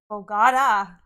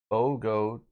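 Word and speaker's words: Bogotá: The forced pronunciation is on the A. Yeah, I guess we don't emphasize the A, like Bogota.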